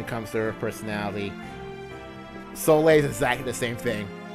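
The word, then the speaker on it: Soleil: about soay oh yeah the fact that her name is pronounced soay not so sorry so from Animal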